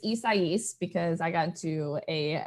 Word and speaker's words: Isaias: was like, wait a minute, maybe I am pronouncing it wrong. So how do you say it? Isaias.